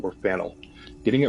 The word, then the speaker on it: Faneuil: French spelling confusing name of the building is pronounced Fanueil or Fennell getting it wrong is a good way to